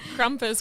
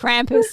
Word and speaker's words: Krampus: the horror movies about kumus Krampus whoever it is yeah Krampus yeah I said the wrong name there he goes